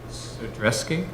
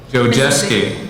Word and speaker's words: Jojeski: 8.2, accept the resignation of, how do you say that? Sodreski? Jojeski, okay.